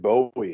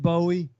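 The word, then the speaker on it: Bowe: David Bowie well it's not spelled the same way it's b-o-w-e it's it's yeah it looks like it looks like bow it's pronounced Bowie though yeah I've forgotten I've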